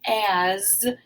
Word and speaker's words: as: as we remember that the s in as says the z sound has we remembered that